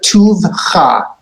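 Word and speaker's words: טובך: And do you hear how Joseph made the pausal function of the shva? Together, tuvcha.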